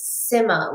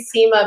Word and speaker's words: Sima: your last name but my first name is simma like similarity or simma down and my last name